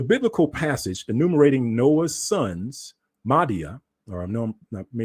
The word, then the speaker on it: Madai: Madai? Yeah, is that it? Madai?